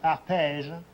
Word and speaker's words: Arpège: The best known are Arpège and Arpège? and Mycene. Spell that, arpège.